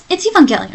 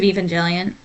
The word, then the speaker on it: Evangelion: Evangelion, right?